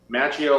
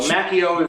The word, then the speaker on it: Macchio: because the Italian alphabet when you've got two C's together and an H or it's a c and an H that's like a hard C the H is silent